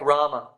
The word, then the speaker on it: Rama: syllable if you pronounce a word like Rama Ram has two A's in it but the first a is long ra and the second a is short so that's called Matra